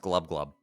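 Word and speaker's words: Gl'bgolyb: It's pronounced glubglub.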